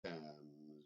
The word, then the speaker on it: Thames: And remember that there's a river called the Thames, which doesn't rhyme with names.